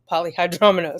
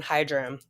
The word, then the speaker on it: polyhydramnios: Poly meaning many, much. Hydra meaning fluid. Amnios. Amnios. Okay, polyhydramnios. Okay, that makes sense. I was cutting the syllable in the wrong place. I was doing hydram.